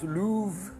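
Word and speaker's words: Løve: au soleil ayant d'ailleurs ça se prononce pas l'offre en louve et ça veut dire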